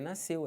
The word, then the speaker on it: nasceu: Eu sei, só que SC, eles não podem ser pronunciados numa palavra que depois desse SC você tenha E ou I. Por exemplo, piscina. Aqui, você tem um I. Se fosse um E, tipo nasceu, também não pronuncia.